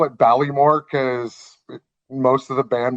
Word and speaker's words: Baile-Mor: So the pronunciation is Baile-Mor de Lanark.